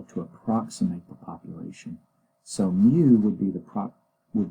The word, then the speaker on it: mu: this Greek uh letter this is this is pronounced mu and mu okay okay okay and this is